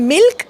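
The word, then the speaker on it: milk: chalk L silent आहे पण मिल्क मध्ये एल बोलला जातो जर तुमचं उत्तर जर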